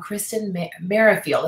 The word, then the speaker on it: Kristen Merrifield: I am here with Kristen Merrifield.